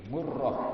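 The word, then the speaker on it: مُرَّة: itu namanya muruh n ini bidomil Mimi dengan dibaca Dom mim watasidii dan tas jadi murroh muroh Jadi dibacanya Bukannya bukannya muroh doang muroh nah ini wuniatu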